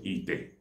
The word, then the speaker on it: ite: All pots are called ite. In Igbo language, ite is spelled as E-T-A, ite.